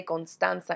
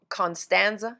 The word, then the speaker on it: Constanza: And I guess I should say Constanza in English, huh? People are not going to know how to say it in Spanish, but it's a Spanish word of a place in Dominican Republic where my family is from, but Constanza, is that how you would say it?